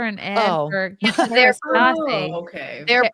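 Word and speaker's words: Kérastase: for They're Kerastasi. Oh, okay. They're How do you- promoting How do something. you They're pronounce not this? Kerastasi.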